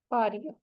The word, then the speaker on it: Parea: ठीक है, गेओ नहीं है ये, यू लेना पारिया, PAREA पारिया। ठीक है, यू लेना परेरा, यू लेना परेरा, जी साइलेंट है, यू लेना परेरा, to heal the broken relationship, you लेना परेरा।